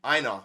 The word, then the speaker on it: Aina: Aina, yeah, was Mhm.